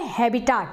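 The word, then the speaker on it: habitat: तो जो घर है बैक्टीरिया का, उसी को हम कहते हैं हैबिटाट, है ना, हैबिटाट या हैबिटेट, मैं हैबिटेट प्रोनाउंसिएट करूंगी, ठीक है, उसी को हम कहते हैं हैबिटेट, या इसी को बुलाया जाता है नीश, है ना।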